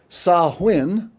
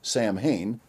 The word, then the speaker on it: Samhain: the encyclopedia britannica reveals sahuin celtic for end of summer often pronounced samhain one of the most